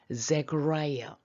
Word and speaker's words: Zechariah: named, 이때는 name이 동사가 돼서 뭐뭐라 이름을 붙이는데 과거분사로 이름이 뭐뭐라는, 사가라를 영어 발음을 하면 Zechariah.